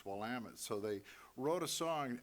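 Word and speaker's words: Willamette: to Oregon from Texas and they never could pronounce wamit so they wrote a song in order to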